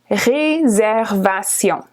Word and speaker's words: réservation: Reservation looks almost the same in English and French, just pronounced a little bit differently, but it's similar. Réservation.